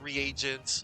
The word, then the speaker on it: reagent: Cuz like, you know, I thought that that there's like R E A. Oh, you're not supposed to pronounce the A, you know. No, I get you. No, it's reagent.